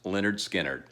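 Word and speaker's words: Lynyrd Skynyrd: later to record their Masterpiece debut album titled pronounced Leonard skinnard the self-titled debut was released in August 1972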